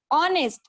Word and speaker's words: honest: So if there is a H, but we do not want to consider that H, we want to consider sound.